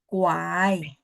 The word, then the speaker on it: 拐: Kuai.